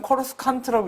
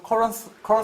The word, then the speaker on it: Coruscant: 그러니까 발음대로 하면 코러스칸트라고 읽어야 되는데 영화에서는 계속 코러산트라고 사실은 나옵니다. 코르산트도 아니고 코어상 비슷하게 발음합니다. 불어식으로.